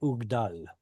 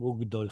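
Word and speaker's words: וּגְדָל: And this is not the word ugdal. That's a tricky one. Dol. Very Dol. good. Oh, Yeah. because of it's a kamatz katan.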